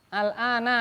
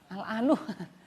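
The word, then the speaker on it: الآنَ: Al-ana sekarang. Itu al-ana terus, tidak bisa. Al-anu, enggak bisa. Al-anu, salah. Bacanya al-ana terus karena mabni.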